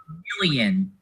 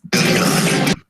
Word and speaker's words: Milon: is it it's not million it's not million it's milon million million it's a Latin name judge in our Forum